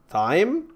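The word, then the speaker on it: thyme: particles great uh what thy is also another her pronounced like the word time okay I actually pretty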